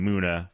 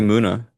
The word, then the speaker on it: Munna: maybe it's Munna. Yeah. Of Moo. No, it is Moo because that's how you pronounce Mu.